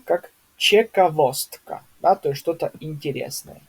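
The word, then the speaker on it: ciekawostka: Ч как чековостка, да, то есть что-то интересное.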